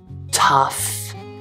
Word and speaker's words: tough: There's also the uff sound, uff, which is a short U sound, plus an F sound, f, uff. And you'll see this in words like tough and enough and rough.